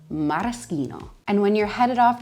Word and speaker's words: maraschino: Maraschino is a really classic cherry that we use in puddings, desserts, drinks, but it's actually pronounced maraschino. Again, the CH makes the K sound, maraschino.